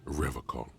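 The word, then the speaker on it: Revachol: He pronounces Revacol with a hard K. Right? Unlike other people.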